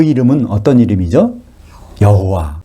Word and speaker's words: 여호와: 여호와, 또 야훼라고 발음할 수 있는 그 이름의 뜻은 예레미야서 33장 2절에, 그죠?